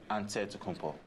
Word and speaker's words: Antetokounmpo: greek way you say with the nc like antetokounmpo whatever you got just say you know it's